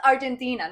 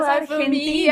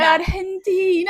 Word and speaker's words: Argentina: And seeing them on the stage in one of the biggest stages in London, pronouncing things correctly as well. It was not Argentina, none of that bullshit. It was Argentina. Argentina.